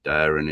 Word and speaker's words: Dering: But if you look into it, guys, anyway, 20 odd people found in Daring. It's spelled Dering, Woods.